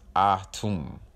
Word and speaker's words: Atum: Atum should be pronounced Ah-Tum.